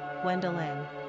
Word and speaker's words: Gwendolyn: Pronunciation, Gwendolyn.